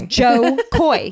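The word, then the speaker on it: Jo Koy: his name sometimes just I think it's John and it's not John it's Joe Joe Koy it's Joe Koy yeah but I think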